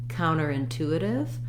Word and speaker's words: counterintuitive: it all together counter-intuitive my main stress is on the tube so counter by itself has first syllable stress in the phrase counter is going to have secondary stress so it's more important to stress the two of tuitive it's counterintuitive counterintuitive so the full word together has um uh fourth syllable stress um so thinking about